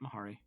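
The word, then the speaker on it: Mhairi: defense mahari thurston tyler m-h-a-r-i yeah that's right mahari thank you you know or a funny or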